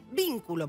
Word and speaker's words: vínculo: Cuando vos tenés así armado ese cuadro sobre la palabra, te vas a dar cuenta cuál es la sílaba tónica. En vínculo, por ejemplo, que es una palabra esdrújula, por supuesto la sílaba tónica es vin.